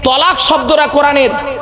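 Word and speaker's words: طلاق: শব্দটা তালাক নয়, শব্দটা তালাক নয়, শুনে নিন। শব্দটা তালাক নয়, শব্দটা হলো কি? তলাক।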